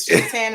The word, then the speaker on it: Shaitan: Is it Shaitan? Is that how they say it? You're absolutely right.